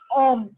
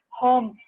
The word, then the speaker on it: homme: Okay, when H is mute, you can consider it as a vowel because I pronounce it as homme, not home.